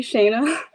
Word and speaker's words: Shana: We're here with Shana, the jeweler. Introduce yourself to the URLians. So it's actually Shana, I'm so sorry.